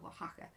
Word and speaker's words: Oaxaca: Yeah, Oaxaca.